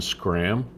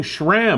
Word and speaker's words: Schram: And did you just call Scram? Yes. Is that how it's pronounced? Yes, it is. I've been saying Schram all this time.